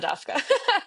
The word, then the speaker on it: DAVKA: I pronounce it CASA DAVKA.